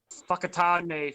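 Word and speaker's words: Whakatāne: natives of New Zealand, a W and a H is pronounced as a f, so an F. So whakatane, whanganui, whakapapa, that kind of stuff like that.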